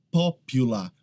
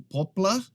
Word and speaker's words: popular: Popular. Muita gente acaba pronunciando essa como poplar ou poplar. Aqui é popular.